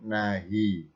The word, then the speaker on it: nahi: Tulisannya harfu nafyin, tapi bacanya huruf nafi. Begitu pula yang bawah ini tulisannya nama lengkapnya harfu nahyin, tapi bacanya huruf nahi.